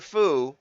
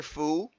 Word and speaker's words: Fou: Fu, but wrote me, F-O-O, it's pronounced that way.